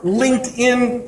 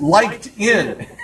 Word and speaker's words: LinkedIn: I even had a radio host mispronounce it and say, it's liked in. And I chuckled. I said, no, there's no such thing as liked in. It's linked in.